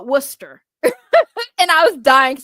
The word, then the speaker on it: Worcester: people because to them you're looking at like this is Wood uh Warchester. No, it's Worcester. It's Worcester. That's what it is.